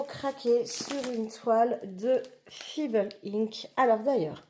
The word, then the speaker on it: Feeble: moi ça m'a instrigué donc ça se prononce fibel et en fait je